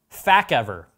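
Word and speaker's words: FaceEver: It's spelled F-A-C-E-V-E-R 2-in-1. So fact ever. It's the fact ever, all right?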